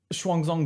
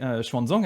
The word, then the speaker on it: Xuanzang: Et donc on en a un exemple ici dans la vie de Xuanzang, que j'ai toujours pas prononcé correctement, mais Xuanzang, hein, du coup, je rappelle, un pèlerin et traducteur.